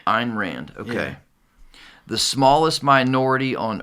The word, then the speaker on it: Ayn Rand: on is that and I think it's pronounced ayan Rand Ayn Rand okay the smallest minority